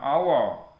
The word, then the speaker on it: hour: Kemudian hour, walaupun depannya H, tapi kita membacanya hour, maka kita pakai N.